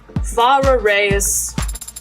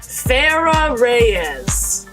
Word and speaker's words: Farah Reyes: So, for the record, your full name is Far Reyes. And how is that pronounced? Like how I just said it. Oh, I pronounced it wrong. Farah Reyes.